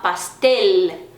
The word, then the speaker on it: pastel: e sim um bolo, eu não vou falar pastel ou pastel, eu vou falar pastel. Ele tem que pronunciar o L, não é som de U.